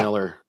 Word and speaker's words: Millar: the ultimates it's funny it's actually pronounced Miller with a lot of